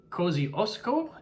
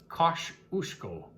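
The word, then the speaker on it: Kosciuszko: uh by the way Australia's highest mountain uh Co Osco in a Aussie English much to the srin of any nearby poles who would have pronounced it Kos usko it's only 2,228 met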